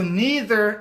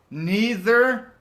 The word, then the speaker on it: neither: doctor nor a teacher so neither is pronounced two ways neither or neither either or either so the second is either